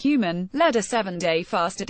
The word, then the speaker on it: HVMN: Phil Libin, CEO of All Turtles, Jeffrey Wu, CEO of biohacking and nootropics company HVMN pronounced Human, led a 7-day fast